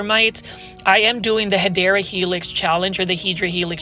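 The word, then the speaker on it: Hedera helix: what you call a hadera helix English IV that's the correct way to say is hadera Helix but for some reason my plan Fage you guys like it when I say hedra Helix so all I'm going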